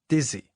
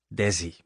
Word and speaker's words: Desi: Okay, Lucille, but it's not Dizzy. Oh, how do you say it? Daisy? No, Daisy is a flower. It's Desi. Desi.